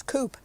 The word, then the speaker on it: Coupe: I think somebody pronounced that cope last night. It's not. It was Coupe. It's pronounced Coupe. Um he and his wife uh were both very good strikers.